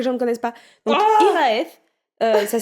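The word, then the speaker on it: Hiraeth: Donc, IRAF, ça s'écrit H-I-R-A-T-E-H.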